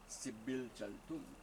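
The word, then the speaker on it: Dzibilchaltun: It's that with the D and then we have a Z. Sibil Chaltun.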